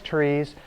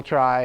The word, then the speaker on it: trie: otherwise known as prefix trees. And unfortunately the name try is pronounced by some people tree and some people try and we'll talk about